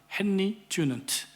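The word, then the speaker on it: Henri Dunant: 탄생하게 된 그런 배경입니다 그의 이름은 헨리 주는트 프랑스 발음으로는 앙리 주인향이라고 합니다 여러분 하나의 꿈이 사라진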